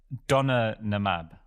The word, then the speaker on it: Donanemab: I think it's Donanemab.